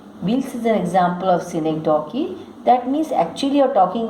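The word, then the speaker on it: synecdoche: A cynic donkey, pronounced cynic donkey, is a member of the figurative language family.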